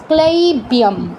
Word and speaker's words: ক্লৈব্যম: ক্লৈব্যম উচ্চারণটা এরকম হবে, এরকম।